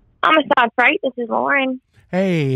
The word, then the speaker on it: Amistad: So how do you pronounce the name? Amistad or Amistad? Amistad.